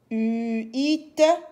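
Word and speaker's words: huit: se lit pas donc on va lire seulement le U le I et le t u i u it 8 u it 8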